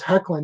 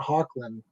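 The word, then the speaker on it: Hoechlin: it tyler heckland because someone told me it was heckling not hawkland it i always thought it was heckling or hanklin or something like that because that grading is spelt that way as well like i think it's german or something okay so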